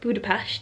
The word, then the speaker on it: Budapest: it's the peshed part of Budapest because it's pronounced Budapest he was very clear about that this morning